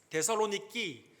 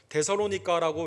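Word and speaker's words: Θεσσαλονίκη: 데살로니키, 우리 헬라 사람들은 지금 그렇게 발음을 하고 성경에는 이제 구어체로 데살로니가 이걸 번역을 해서 데살로니가라고 이렇게 발음을 하죠.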